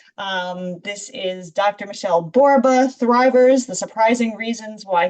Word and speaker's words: Borba: Well, my name is Michelle Borba. The most important thing you need to know is I'm a onel Michelle and Borba rhymes with Zorba.